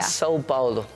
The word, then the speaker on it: São Paulo: Sao Paulo, ¿cómo se pronuncia? Sao Paulo. Yo tengo una curiosidad, Meli. San Paulo, dije yo, ¿verdad?